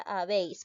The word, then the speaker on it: habéis: el ejemplo habéis ya la palabra habéis porque es diptongo porque hay una abierta más una cerrada ahora además nos cuenta lo siguiente cuando observamos un diptongo ya en este caso vocal abierta más cerrada o cerrada más abierta voy a llegar a tildar siempre la vocal abierta no se tilde la vocal cerrada sino la abierta adiós bien nos damos